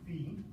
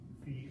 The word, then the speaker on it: phi: Y equals A sine of omega x minus phi plus b. So this little squiggly here is a Greek letter. The Greek letter combination in English would be ph, foot. So it's pronounced phi or phi, okay?